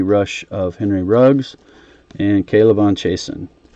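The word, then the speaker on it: K'Lavon: of Henry Ruggs, and Kalavon Chasen, who I was mispronouncing as Clavon, like an uneducated person until recently.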